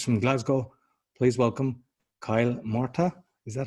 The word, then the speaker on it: Murtagh: my guest is from glasgow please welcome kyle marta is that how i pronounce it that's how you pronounce it and